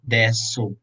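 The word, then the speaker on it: です: So when we pronounce the u in this word des, it is silent u.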